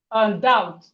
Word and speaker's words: doubt: We have doubt. Doubt. The B here is is silent. So it's not. No, the B is silent.